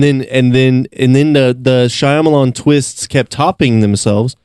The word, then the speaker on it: Shyamalan: twists kept topping themselves say you're saying that real weird shyamalan shyamalan it's not shyamalan yeah it is look it up and look how okay look at how it's spelled i i've always heard it shyamalan i'm not shyamalan all right okay you've changed my mind um so m night